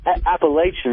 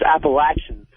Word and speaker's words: Appalachian: Yeah, I want to talk to Patrice about him cracking on Appalachian State. And it's not Appalachian, it's Appalachian. It don't matter.